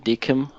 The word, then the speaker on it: DKIM: not really combined with domain and DKIM or Deacon how you want to pronounce it is adding domain authentication and this